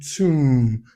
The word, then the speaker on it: tomb: Letter O can also give us the long U as in move. As in tomb. Now, take note of the word w and the word tomb.